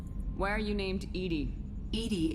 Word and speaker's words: EDI: are you named Edie Edie is the phonetic pronunciation of EDI that is an acronym for enhanced defense intelligence where are you located